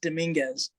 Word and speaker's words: Dominguez: Of course, I know how to say, but My last name's pronounced Dominguez.